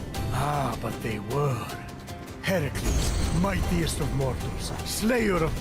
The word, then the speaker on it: Heracles: Heracles. Yeah, that that is how it's supposed to be pronounced.